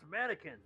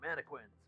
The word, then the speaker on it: mannequins: Like it's it's it's from mannequins, not manquins or whatever.